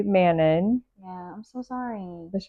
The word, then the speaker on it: Manon: And I kind of rely on him, but he was pronouncing it like Manon. That's very fancy sounding. Manon. And that's probably the correct way to say it, maybe. But my accent says Manon.